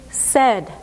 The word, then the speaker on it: said: Even though it looks like paid, we say it differently, right? We say paid, but when you hear this word, you hear said. Said, paid. Even though they look a lot alike, we say them differently.